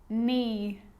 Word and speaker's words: knee: A K is not pronounced when it comes before an N, like knife, no, knee, knock, not, knowledge.